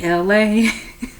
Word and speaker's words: Elay: Yo, man, this is me, Elay. Pronounced like LA, like the city.